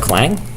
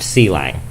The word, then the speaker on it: Clang: Do I have clang? Okay. All right. So, that's how we do GCC. Okay. There are clang fans. Okay, folks. That's not pronounced cang.